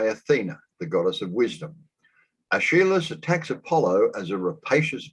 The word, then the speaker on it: Aeschylus: Aeschylus attacks Apollo as a rapacious violator of natural law.